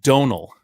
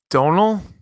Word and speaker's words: Domhnall: l like dum-dum Hall but it's pronounced Donal Donal Donal that's how you pronounce